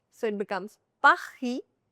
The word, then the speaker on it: Paris: Last letter S is silent. vous It's not vous. It's vous. vous This is not lays, no. This is lay. The final letter S is silent, so it becomes pa-hee.